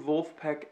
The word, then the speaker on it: Vulfpeck: oh yeah this is Matt O'Leary and you guessed it it's a review the new volt Peck album mr. finish line the phonetic spelling of the German pronunciation of Wolfpack and if you haven't